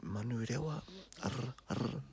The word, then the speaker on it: Manurewa: So Manurewa, ta-da. So ma, nu, re, wa. So all of your vowels in that are all short.